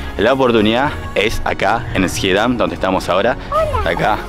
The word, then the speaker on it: Schiedam: Schiedam, como se pronuncia, ya, ¿cómo se pronuncia? Schiedam, ¿right? Schiedam. Right, te decía. Schiedam. Schiedam. Pero viste acá las CHJ, la SJ, la HJ, todo es J.